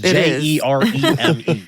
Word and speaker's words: Jereme: It's so hard to not say it just because of the way his name is written. I apologize, but it's spelled Jereme. It's Jereme. Like a Jereme-filled donut.